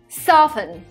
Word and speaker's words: soften: dirt in my backyard soften here we have a silent tea the same thing happens